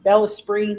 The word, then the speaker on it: Bellesprit: It's spelled BELLESPRIT, like El Sprit. Yeah. It's not spirit. No, spell it again. BELLESPRIT, Bella Spree magazine, or Google it and it'll come up too.